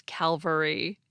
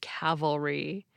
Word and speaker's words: cavalry: a few times because I kept mispronouncing it as Calvary the word for troops who ride horses is cavalry you can trace its